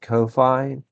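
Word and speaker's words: Ko-fi: Uh, I believe it's pronounced Kofi, but it is also attached to another thing called buy me a coffee.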